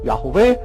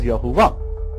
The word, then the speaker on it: Yahweh: Yahweh is a term for Yud-He-Vav-He, which many people pronounce like myself, Yahweh. Some of you pronounce as Yahuwah.